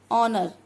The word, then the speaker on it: honor: ऑनर, ऑनर, H is silent word and we are pronouncing them from O, then it is a vowel and I write an honor.